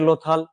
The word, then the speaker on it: লোথাল: আমরা নেক্সট স্লাইডে যাই লথাল এই স্পেলিংটা একটু ভুল আছে লোথাল ল এ ওকার থ আকার ল লথাল সভ্যতা কাটো লোথাল বানানটাকে